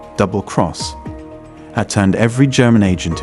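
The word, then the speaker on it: XX Committee: out across Europe the British EXA committee pronounced double cross had turned every German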